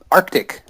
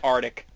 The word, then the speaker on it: Arctic: Arctic. That is correct. So many people say Arctic. Arctic.